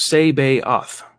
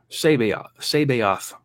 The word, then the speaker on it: Sabaoth: And Sabaoth is pronounced Sabaoth. Sabaoth. Say that fast.